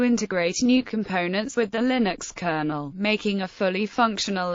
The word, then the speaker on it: Linux: To demonstrate how the word Linux should be pronounced, Torvalds included an audio guide with the kernel source code. Another variant of pronunciation is Linux, Linux.